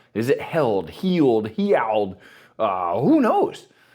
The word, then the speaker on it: Heald: last name is it held healed heal uh who knows John said healed as if you were injured and you are now healed so there you go